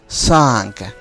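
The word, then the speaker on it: cinq: প্রথমটা হলো সাঙ্ক। সাঙ্ক এর শেষে কু রয়েছে, এই কু উচ্চারণ হবে।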